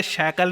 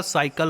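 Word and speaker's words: cycle: हैं वोह कहते हैं अबे शकल नहीं होता साइकल होता है लोग गलत भाषा बोल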